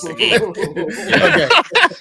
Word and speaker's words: Seguin: Seguin, sorry. Seguin. I'm a Texan. We see that it's pronounced Seguin.